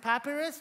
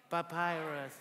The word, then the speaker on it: papyrus: my how do you say this I said papus what papus okay everybody Papyrus man you guys are awesome amen and copper